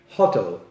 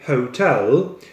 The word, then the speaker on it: hotel: make a two stakes they say huddle like in Polish language but it's not all it's Oh so we say Hotel with the stress on the second syllable not first when you go to